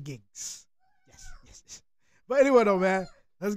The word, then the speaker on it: Giggs: UK America gigs yeah gigs I'm saying it right right yeah I'm not saying Gibbs gigs it sounds like I'm